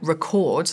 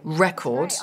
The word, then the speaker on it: record: marks the stressed syllable because the student said record like the verb instead of record like the noun which is what Laura wanted here so marking that stress